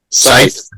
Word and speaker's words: scythe: Scythe. Yep, that's how you say it. It's spelt funny.